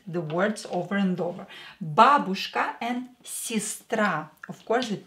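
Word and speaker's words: бабушка: pessimist in Russian PC mist a friend drug babushka babushka Babushka grandmother do not stress ooh stress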